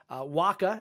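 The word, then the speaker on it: WHCA: waka as it's pronounced provides voice video and data communication services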